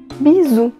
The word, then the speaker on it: bisou: beijo pode também ah ser chamado de bizu bizu é essa pronúncia mesmo não eu não acho assim tão bonita bizu parece um bisouro enfim mas é assim que